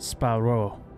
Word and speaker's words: Sparrow: Is your last name Sparrow? It's pronounced Sparrow, but yes.